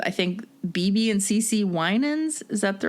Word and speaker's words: Winans: to performing with, I think, BB and CC Winans.